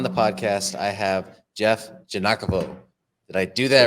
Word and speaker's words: Giagnochavo: guys today on the podcast I have Jeff janakovo did I do that right you did man